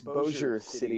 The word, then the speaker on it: Bossier City: Actually, it's Bossier City, but everybody here is weird, so you don't have to pronounce it correctly.